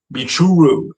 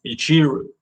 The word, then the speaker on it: Michiru: But also I think Ray's English voice actor might have misspoke because it sounded like she was saying Michuru instead of Michiru.